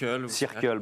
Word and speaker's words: Circle: puisque c'est grâce à cercle ou cercle vous prononcez comment circle bon allez circle que vous menez ce